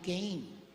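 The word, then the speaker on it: Cain: more excellent sacrifice than Kain. sa mga foreigner hindi po kain ang pronunciation nila kan may mga foreigner ba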